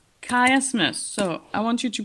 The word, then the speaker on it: chiasmus: Actually, it is called a chiasmus. Chiasmus. So I want you to pronounce it correctly.